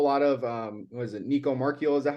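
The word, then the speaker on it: Nico Marchiol: seen a whole lot of um was it Nico marchio is that how you say his name yes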